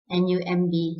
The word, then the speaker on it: numb: So what you need to remember is whenever you find the letter B at the end of a word, just after M, please keep in mind that B is silent. So the word like C-L-I-M-B, it's not climb, but climb. N-U-M-B, numb. So climb, numb.